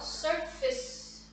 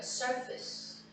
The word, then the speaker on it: surface: 얘들아 이거 발음 많이들도 헷갈려 하거든. 왜냐면 페이스가 들어가니까. 따라해 보세요. surface surface. 그렇지? 엑센트가 앞에 있어서 하고 그냥 힘없이 바로 하면 돼요. surface.